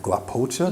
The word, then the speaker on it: GLAPOCHA: Because the modeling agency you're with is, tell me if I'm pronouncing it right, GLAPOCHA? Yes, GLAPOCHA?